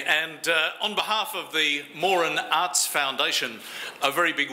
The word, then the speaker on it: Moran: of the 2019 Doug Morin national portrait prize and the usual gentle reminder the family name is pronounced Morin so just before we